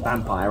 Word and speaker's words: Vampyr: and now that that is actually how you pronounce it it's basically it's vampire I've got a spell we'll learn why at